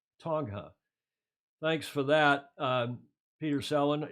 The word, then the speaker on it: Tonga: He's saying, please, it's a soft G in Tonga, not a hard. It's a Tonga, right? Tonga.